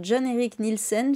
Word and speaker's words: John-Erich Nielsen: pour cette nouvelle interview j'ai le plaisir d'accueillir John Eric Nielsen j'espère que je prononce bien d'ailleurs c'est parfait d'accord donc qui